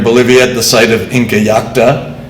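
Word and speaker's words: Incallajta: One, which you can see out there in Bolivia at the site of Inca Yacta, and that is how it's pronounced, and there are 5 spellings, but that is the currently accepted one.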